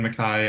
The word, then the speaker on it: MacKay: Yeah, Mai is how uh my last name is pronounced like Mai.